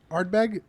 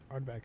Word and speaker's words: Ardbeg: Ardbeg, right? Ardbeg? Ardbeg.